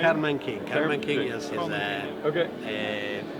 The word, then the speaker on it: Karlmann King: So how do you pronounce it? Karlmann King? Karlmann King.